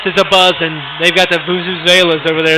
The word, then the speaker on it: Vuvuzelas: They've got the Vuvuzelas over there. Is that how you say it, Joe? You're a soccer fan. Vuvuzelas, yeah. All right.